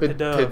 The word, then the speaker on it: Pidove: pronounce it Pidove.